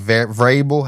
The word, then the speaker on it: Vrabel: And the hiring of Mike Vrabel, how you say his name over there?